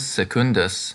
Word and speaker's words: secundus: pig secundus porcus parbus because secundus has a double consonant the stress comes on the second syllable double consonants make the preceding vowel heavy look at the next